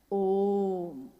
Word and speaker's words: ओम: उस ध्वनि की आवाज थी अ उ म अगर एक साथ सुना जाए उसको तो उसकी आवाज गूंजती हुई ऐसी है जैसे हम बोलते हैं या उच्चारण करते हैं तो हम कहते हैं ओम है वो अ उ